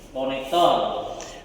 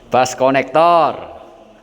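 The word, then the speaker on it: bus connector: Yo, bus konektor. Bass konektor. Bas konektor. Nah, bacanya Bass konektor.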